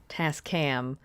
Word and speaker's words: Tascam: you say it Tas task or t cam Tascam Tascam um does it have like a nickname like